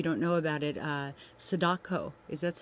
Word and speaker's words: Sadako: um if you don't know about it uh Sadako is that how you say it yes yes